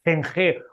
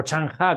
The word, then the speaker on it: Zheng He: otros el mítico almirante Zheng He o Chang Ha, como creo que se pronuncia en China, en lugar de tratarles